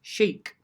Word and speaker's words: chic: you are looking at words with the sh sound uh where it's spelled c h uh most of these words have a french origin here we go spelling number one the word is chic the bloggers were dressed